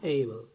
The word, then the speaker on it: able: ABLE, আমরা যারাই অ্যাবল বলে থাকি এখন থেকে আর অ্যাবল বলবো না, এইবল।